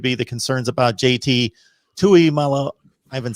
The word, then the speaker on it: Tuimoloau: I guess lastly would be the concerns about JT Tuimoloau. I haven't said his name in a long time. Tuimoloau.